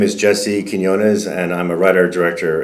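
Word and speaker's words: Quiñones: pronunciation of name on my social media so phonetically it would be Keen k n yo yo n e z Kos kones there you go kones yeah okay yeah I definitely did not prounce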